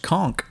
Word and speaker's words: conch: going to go with it's actually pronounced conk I was about to say conch no it's not someone